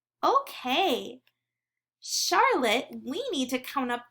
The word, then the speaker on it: Charlotte: And Charlotte has a silent E at the end of her name. We don't say the sound, but it's there. Okay, Charlotte, we need to count up the vowels in your name.